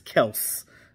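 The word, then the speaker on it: Kelce: wind of these oh it's not kelsey it's kels okay okay so it's it's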